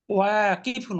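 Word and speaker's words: واقفون: অনেকেরই কিন্তু উচ্চারণটা সঠিক হয় নাই। ওয়াকিফুন, ওয়াকালিফ ওয়া মাদ্রাসা।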